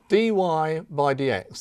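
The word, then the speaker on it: dy/dx: what we're doing now dy by DX that's the way that we pronounce this expression here now this this doesn't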